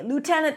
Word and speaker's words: Lieutenant: Colonel, colonel, or in the movies, they say Lieutenant Colonel, colonel. So here, instead of the L, you pronounce an R, cur, and then null, another dark L.